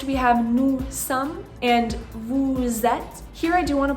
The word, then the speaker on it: vous êtes: Next we have nous sommes and vous êtes. Here I do want to point out that the S in vous, which is normally silent, is going to be pronounced as a Z.